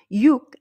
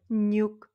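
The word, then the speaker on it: 육: peu spécial et pourquoi Yuk a deux prononciations donc il y a Yuk et nuk et ça dépend de quoi si youuk est suivi d'une voyelle sa prononciation ne change pas donc ça se prononce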